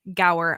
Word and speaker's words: Gower: guest on today and his name is Brian Gower I hope I did not completely like just